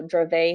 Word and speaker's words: Dravet: me at least to remember that a lot of these terms are French at least in my head there and that's how I know how to pronounce them so drove a syndrome is is that